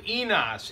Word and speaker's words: eNOS: You have an enzyme called enos. It rhymes with a part of the male anatomy.